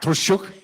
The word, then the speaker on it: Marta Troszczuk: First, I'd like to see Marta Troszczuk. Yes. Did I say it right? Troszczuk? Yes, Troszczuk.